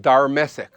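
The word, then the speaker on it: Darmesek: name is always spelled darmesik a pronunciation that is known in several later aramaic dialects the second is that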